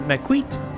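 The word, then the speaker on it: Maquette: It's actually pronounced Maquete.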